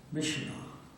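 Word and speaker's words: Myitkyina: The Chinese and Stilwell attacked a place called Mishnah. No, it's not spelled like that, like Mackinac Island is Mackinac.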